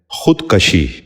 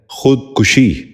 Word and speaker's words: خودکشی: خلوص۔ ساتواں لفظ ہے خودکشی۔ یہ غلط تلفظ ہے، درست تلفظ ہے خودکشی۔ دوبارہ سنیے، خودکشی۔ بچوں